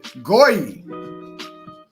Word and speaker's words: goy: It's a goy. Right? And I think the pronunciation on that is Goyim?